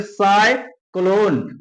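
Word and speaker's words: cyclone: बाद क्या आ गया, यहाँ पे सी के बाद आ गया वाई, तो इसका मतलब सा उसे पढ़ते हैं, क्या पढ़ते हैं, सा प्रोनाउंसिएशन उसका होता है, तो इसे हम लोग पढ़ेंगे साइक्लोन, क्या पढ़ेंगे, साइक्लोन, साइक्लोन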